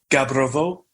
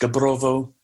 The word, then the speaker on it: Gabrovo: in Bulgaria stew house pronounced Gabrovo in the West Gabrovo in the East it takes a foreigner